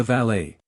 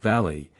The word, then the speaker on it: valet: is extremely pretty but also extremely extravagant the valet the valet pronounced valy not valy is what Bo brumel called a gentleman's gentleman